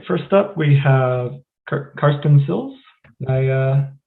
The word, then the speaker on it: Karsten Silz: all right first up we have carson sills i uh pronounce it correctly yep great all right um